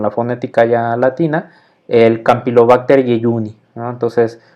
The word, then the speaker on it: Campylobacter jejuni: fonética ya latina el campylobacter jejuni entonces viene la regla de la j que se pronuncia como un y como una y entonces es campylobacter jejuni no se junte como